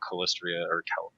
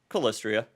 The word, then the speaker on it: Calistria: and get to know them and study about cholesteria calistria yeah I said it right okay yeah yeah